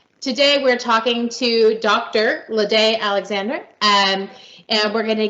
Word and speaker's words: Laide: My name is Laide Alexander. Some pronounce it Laide, depending on which you choose. Either way is fine.